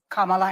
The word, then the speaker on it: Kamala: that on Trump unbelievable Kamala and I'm calling you Kamala because for all of those who are mispronouncing it I want you all to know how to say it shut up it's worth